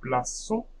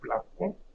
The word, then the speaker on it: plaçons: Nous plaçons, so you see if there is no CD, this would be hard C. So I will say nous plaçons, but the verb is placer, so we need to keep that same sound.